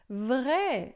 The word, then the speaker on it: vrai: Olha só, esse a I em francês é sempre som de e, tá? Pode ser mais aberto ou mais fechado, pode ser vé ou vre, tá? Aqui vé, geralmente vai ser vé, mas aí pode tanto ser mais aberto quanto mais fechado, tá?